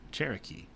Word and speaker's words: Cherokee: the chalake which is the spanish uh spelling of chalaki which is pronounced by uh would later be pronounced by the english as english as cherokee uh that's one thing